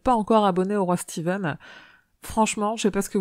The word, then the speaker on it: Stephen: début de ce podcast je vais m'efforcer a prononcé steven ou lieu de stephen king car en anglais stephen cependant ce bien steven et puisque moi je